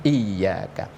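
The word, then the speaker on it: إِيَّاكَ: Lafaz iyaka bacanya harus ada penekanan secara jelas yaitu iyaka.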